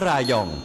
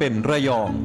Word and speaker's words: ระยอง: พื้น เมือง ดั้ง เดิม คำ ว่า ระยอง ถูก ออก เสียง ว่า รายอง ซึ่ง เป็น ภาษา ซอง เมื่อ กาล เวลา ผ่าน ไป ก็ ได้ เพี้ยน กลาย มา เป็น ระยอง ใน ปัจจุบัน ระยอง มี ชื่อ เสียง